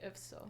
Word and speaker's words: IFSO: You can say that both, but I prefer to say IFSO.